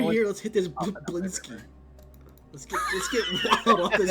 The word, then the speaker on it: Blinsky: Blinksy. It's actually Blinsky. I've been saying it wrong.